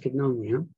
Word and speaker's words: koinonia: Koinonia is written Koinoina, koinonia actually, N-O-N-I-A, yeah, koinonia, but it's pronounced koinonia.